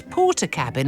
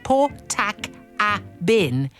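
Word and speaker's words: Portakabin: Uh Sharon of Milton Keane says, "Uh, I always have to pronounce porter cabin as port tac a bin in my head as I never had cause to say it out loud until the age of about 28."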